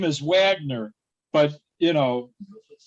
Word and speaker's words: Wagner: set with yeah uh wagner mora so it his name is wagner but you know it's the wagner it's pronounced different yeah it's like it's like a german pronunciation he's a brazilian though